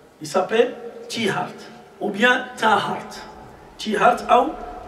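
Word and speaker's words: Tiaret: Maintenant on dit Tiert. Pourquoi Tiert? Parce que dans la langue française, on ne prononce pas le Ha. Alors, après la colonisation, ils ont changé le Ha par le Ya, Tiert. Il y a dans la langue arabe, son vrai nom, c'est Tihart.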